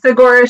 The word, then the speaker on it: Saguaro: And this race was called the Saguaro Showdown Backyard Ultra? Is that how it's pronounced? Yeah, Seguaro Showdown.